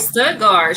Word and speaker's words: Stuttgart: You got it right. Stuttgart, Sugar Town. You're taking the T's out, and it's sugar. So Sugar Town. Let me give a shout out to Stuttgart, Arkansas.